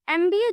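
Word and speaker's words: MBA: एमबीए जो है एम तो कंसोनेंट है लेकिन जो उसका प्रोनंसिएशन है वो एम ए एम एम। इसीलिए उसके आगे एन का यूज किया गया है।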